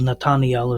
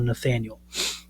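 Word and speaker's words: Nathanael: So centuries later, Yeshua, Jesus, actually makes this reference to one of his coming disciples, Natananiel is how you would say his name in Hebrew or Nathaniel.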